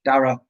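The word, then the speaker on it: Daragh: I like Dara with the silent GH. Dara.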